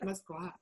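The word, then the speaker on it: Moskva: It's Muscova without the O. So that's how Russians pronounce it, Muscova.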